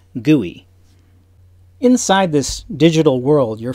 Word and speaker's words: GUI: a graphical user interface or GUI pronounced GUI inside this digital world